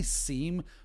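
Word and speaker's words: SIEM: say seam or Sim I say seem because IE tends to be like in believe right be IE ve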